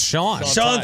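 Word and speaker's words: Xuan: Enterprise reporter for ESPN is it Juan X is you isn't X usually maybe it's like my name pronunciation yeah it's Sean anyway scepter is trying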